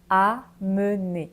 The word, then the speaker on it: amener: destination ok on reprend pour la prononciation amener différence entre emmener et amener emmener amener ok donc emmener on reste